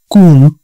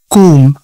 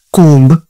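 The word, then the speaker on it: comb: ಪ್ಲಮರ್ not plumber ಸಿಓಎಂಬಿ ಕೂಮ್ ಕೂಮ್ ನಾಟ್ ಕೂಂಬ್ ಟಿಹಚ್ ಯುಎಂಬಿ ಹಂ ಥಂಬ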